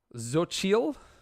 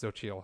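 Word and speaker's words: Xochitl: i think it's pronounced zochiel gomez as america chavez it's x-o-c-h-i-t-l i think it's pronounced zochiel i am not positive though it's a hell of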